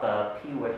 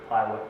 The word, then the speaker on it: Piwik: That very first one at the top, Piwik or Piwik, depending how you want to pronounce that, is interesting in that it's an